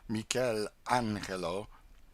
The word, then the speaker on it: Michelangelo: In this same library, we saw some drawings by Michelangelo. These Italians call him Mikuel Anel and Leonardo da Vinci.